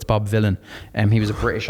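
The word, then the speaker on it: Bob Vylan: So, it's spelled like Bob Dylan weirdly, but it's Bob Villain.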